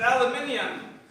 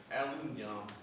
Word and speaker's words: aluminium: We pronounce it aluminium. Well, we pronounce it aluminium. Well, over here in Boston, we pronounce it aluminum.